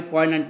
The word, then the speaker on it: poignant: So I don't want to rake up my poignant memory. Okay, poignant. Here Z is silent.